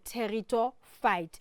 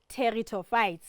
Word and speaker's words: pteridophyte: um is called the terito fight so we've got the silent P there so we don't Sayo but it's called territo fites so let's quickly look